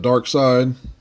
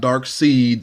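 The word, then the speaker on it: Darkseid: artwork the negative of dark side not dark seed like some people try to mispronounce dark side and mr.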